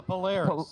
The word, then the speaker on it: Polaris: Is this pronounced, is it Polaris? Polaris? That's a Polaris. Polaris, okay.